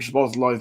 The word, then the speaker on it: Szoboszlai: I was quite impressed that Mason actually was able to pronounce Dominic Szoboszlai's name properly as well, given that it took me a good 6 months to get it right.